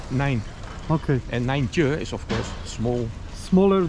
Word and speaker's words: nijntje: And nijntje is of course small. Smaller than small. Small, and it rhymes with kleintje.